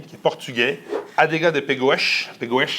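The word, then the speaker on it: Pegões: Adega de Pegoes. Pegoes. Ah, tu le prononces, ton portugais.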